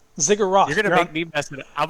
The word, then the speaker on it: ziggurat: the word again how do you say it ziggurat ziggurat you're gonna beat me i'm gonna start saying it wrong i keep saying i don't know why i say cigarette ziggurat you're on top of this cigarette and